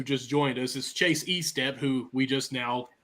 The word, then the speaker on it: Estep: joined us is Chase Estep who we just now taught Connie how to pronounce it e-step not a step I want to make